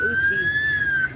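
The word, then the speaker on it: Eucha: There's one from Uchi. See the word E-U-C-H-A? It's Uchi. Oh, can't spell it. Uchi, Oklahoma. It's a little bitty town close to here. Looks like Ucha, but it's Uchi.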